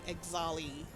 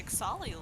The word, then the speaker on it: Ixali: Why did I say Exali?